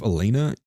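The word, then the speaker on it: Elayna: by the name of Elena Yucha, which is spelled the most insane way possible. It is literally E L A Y N A and then her last name is Y O U C H A H.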